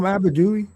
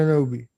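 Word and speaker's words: Anunoby: Is it I'm not saying I'm pronouncing right because I'm asking you. Is it Anobi? Yeah. OG and Anobi.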